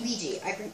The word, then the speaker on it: Ouija: It's actually Ouija. I saw how to pronounce it.